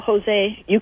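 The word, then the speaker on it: José: But the silent J bothers me more, because when you spell Jose, we have H. We don't need J.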